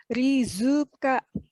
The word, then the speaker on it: Rizka: Nah karena ada pelafalan suku kata itu, nama saya yang tadinya Rizka, cuman R-I-Z-K-A, kalau dilafalkan dalam bahasa Jepang itu menjadi rizuka karena tidak ada Z tapi adanya zu.